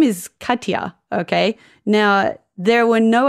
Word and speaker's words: Katja: generalization but Australians have a lot of trouble pronouncing anything complicated I speak of lived experience here my name is Kya okay now there were no other cers in